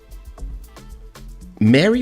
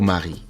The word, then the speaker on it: Mari: I accept Mary for English speakers because it's with a Y, so I'm not mad. Okay. But The correct pronunciation is Mari because my name is Cuban, right? My mom is Cuban.